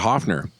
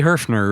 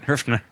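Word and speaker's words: Höfner: Now but we're talking about Hofner. Wouldn't it it's got a umlaut. Would we say Herfner? It'd be Herfner really. I mean if you're going to say it right. Herfner.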